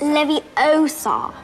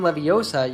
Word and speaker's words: Leviosa: You're saying it wrong. It's Leviosa, not Leviosa.